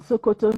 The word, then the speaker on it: Sokoto: In fact, there was this slang that what is there in Sokoto is there in Shokoto. Sokoto is the farthest point northwest of Nigeria. Shokoto. Written the same way, but pronounced S-O-K-O-T-O.